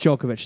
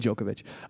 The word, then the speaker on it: Djokovic: no no it's just djokovic they call him the joker that's how you can remember it the d is silent yeah the d is silent in djokovic um he's a big